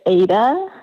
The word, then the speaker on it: Ada: Julie how you doing it's Auda isn't it I mispronounced your name it's Ada is it Ada it